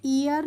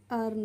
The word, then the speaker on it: earn: तो EARN को हम ईयर्न नहीं पढ़ते हैं। इसको क्या पढ़ते हैं? इसको हम पढ़ते हैं अर्न। EA का प्रोनाउंसिएशन क्या होता है? अ करके होता है।